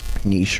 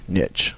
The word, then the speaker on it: niche: small portion of that niche niche or niche it's both acceptable uh pronunciations and so maybe it's